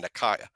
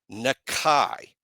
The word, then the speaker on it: Nakai: I've been saying Nakaya. Nakai Hillgreen. Nakai Hillgreen.